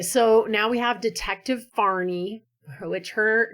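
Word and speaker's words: Fahrni: It is f a h r n i far. So it sounds almost like kind of a middle eastern or something name which she looks very Scandinavian.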